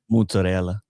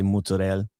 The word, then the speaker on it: mozzarella: so I'm Italian and if I don't say it like an Italian, she like freaks out, you know. How do you say it like an Italian? Mozzarella. Or if or if you're Jersey Italian, you just cut off the valley and say mozzarella.